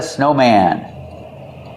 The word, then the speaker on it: snowman: It's like two words. Snow, man. Not snowman. We pronounce the A sound. Snowman. Stress both syllables.